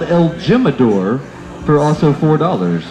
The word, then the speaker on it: el Jimador: for four dollars an el Jimador which is spelled el Jim adore for also four dollars